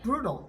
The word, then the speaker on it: brutal: 식에서는 brutal이라고 할 거고 미국식 에서는 모음과 모음 사이에나 D 같은 것들이 있으면 르 르 이렇게 디귿 릴 중간 르 이렇게 됩니다 그 플 된다고 하는데 brutal 이렇게 brutal 제가 완전히 미국 발음이 때문에 영국식 발음 호주식 발음 하는 하시는 분들 계시다면 brutal 해도 괜찮습니다네 brutal more brutal the